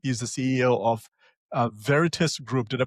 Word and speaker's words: Veritis: He's the CEO of uh Veritus Group. Did I pronounce that correctly Vic?